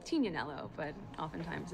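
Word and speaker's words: Tignanello: The name The Tig comes from a wine called Tinaneloo, but often times it's mispronounced Tiganelloo.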